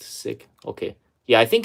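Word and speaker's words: Sikh: might need two child policy uh spelled sick pronounced sick okay yeah I think it's pronounced as sick it's not seik so diversity hiring yeah the diversity hiring program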